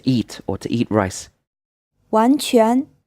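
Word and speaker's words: 完全: 完全 This is pronounced in 2 second tones.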